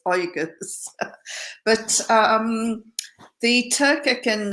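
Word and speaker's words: Uyghurs: get my tongue around pronouncing wigas and then i was told no it's organs but um the turkic and and oigas are suffering uh beyond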